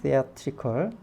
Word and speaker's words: theatrical: 그러니까 제 형용사인 theatrical입니다. theatrical. 발음이 좀 다르죠? theatrical.